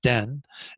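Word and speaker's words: ལྡན: Den, the second syllable, that's that LDAN, it's pronounced den.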